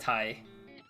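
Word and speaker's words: Tae: It's pronounced Tai, not Tay.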